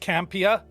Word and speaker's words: Campea: quick watch so yeah so first it is pronounced campia although i kind of flip between the two